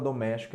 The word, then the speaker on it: doméstica: Tonicidade é a sílaba forte. É na antepenúltima. Ó. A penúltima, aqui, ó. Última, penúltima, antepenúltima. Então, aqui nós temos uma palavra proparoxítona. Então, no item 1, a palavra doméstica é acentuada por se tratar de uma proparoxítona.